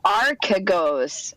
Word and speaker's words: Archegos: And we all It's know pronounced Archegos.